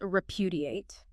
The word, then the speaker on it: repudiate: Last one is repudiate. R-E-P-U-D-I-A-T-E. Repudiate. 4 syllables, stress on the second.